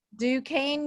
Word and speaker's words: Duquesne: in leadership and liberal studies from can you pronounce for me duquesne university duquesne university for 18 years she has worked at